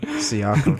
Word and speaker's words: Siakam: Pascal Siakam, this is a good story. Siakam. Siakam. I thought the IA was silent. Siakam. The IA was silent.